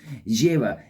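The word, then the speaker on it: Jera: Jira, it sounds like year, and that's exactly what it is.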